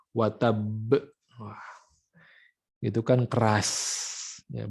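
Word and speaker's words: وَتَبَّ: Nah, di sini ada pembacaan qalqalah. Qalqalah dibarengi dengan tasydid. Watab, ya. Itu harus seperti itu, ya, cara membacanya. Bukan tabbat yada abi lahabi wa tab. Nah, jadi tidak langsung dipantulkan si qalqalahnya, tapi watab, tasydidnya ditahan dulu, baru kemudian qalqalahnya itu disempurnakan.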